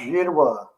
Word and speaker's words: Girouard: Is Girouard, right? Girouard. It's pronounced Girouard.